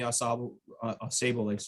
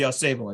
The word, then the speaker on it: Ausable: I grew up in Detroit, so I always get confused on which river is supposed to be pronounced which way, but it's the Ausable, I think, here.